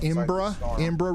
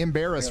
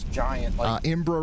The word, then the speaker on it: Embarrass: That's where the actual it's pronounced Imbra River. Okay. I I was calling it Embarrass River the other day. Imbra River.